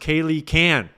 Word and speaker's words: Kaylee K-Ann: Kaylee K-Ann. It's pronounced Kaylee Can.